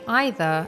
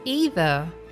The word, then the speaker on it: either: word either was pronounced this is one of the words most Brits and Americans pronounce differently most Brits would say either and most Americans would say it has Eva however nowadays people just choose whichever pronunciation they feel comfortable saying they are both correct can you identify which